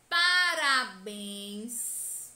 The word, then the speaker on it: parabéns: parabéns e observem que o acento agudo indica que a última sílaba é a sílaba tônica que a mais intensa e mostra também que a pronúncia dessa sílaba tônica deve ser aberta com som aberto só para a Sora